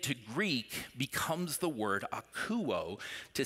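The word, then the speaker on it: ἀκούω: It's pronounced akouo.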